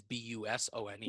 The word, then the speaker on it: Busone: S O N E bus one. So it's like you know people like that's how you pronounce your name. I'm like no that's how I'm pronouncing it for you.